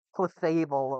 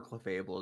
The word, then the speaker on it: Clefable: you do yeah what about clefable over sorry clefable over Raichu yeah I prefer clefable as well Cable's great do you ever realize